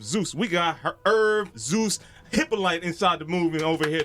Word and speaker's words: Hyppolite: But see, in French and being Haitian, it's Hyppolite. Hyppolite.